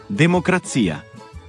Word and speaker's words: democrazia: A pesar de que algunas palabras pueden tener gran similitud, la sílaba tónica puede cambiar. Por ejemplo, democracia, democrazia.